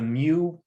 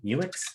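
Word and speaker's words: Meux: the early 1800s the mu brewery i don't even know if we're pronouncing that right m-e-u-x mu muix mu was one of the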